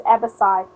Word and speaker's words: abaci: The plural for abacus is abaci. Okay. Wow. Does it have an S in it? You pronounce the last one as an S according to the dictionary.